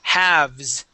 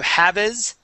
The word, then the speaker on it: halves: Okay, we say halves. Okay, instead of haves, halves. Okay, and also a note with these words, that L is going to be silent.